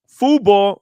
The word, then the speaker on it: Fubo: Fubo, not Fubu.